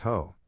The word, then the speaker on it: Hoh: the ho rain forest pronounced ho takes its name from